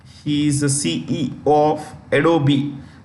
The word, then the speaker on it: Adobe: is the CE of adobe the E is pronounced Adobe okay CEO and chairperson